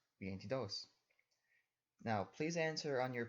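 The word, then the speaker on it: veintidós: While normally stress would fall onto the second to last syllable, the T in vientidos, in this case, it's the last syllable with emphasis, or dos, vientidos.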